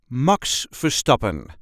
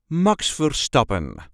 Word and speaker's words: Max Verstappen: correct Dutch pronunciation is MOX fopen Max forsten there is a slight emphasis on the second syllable of the last name MOX fopen MOX for stop MOX for stopen if you can roll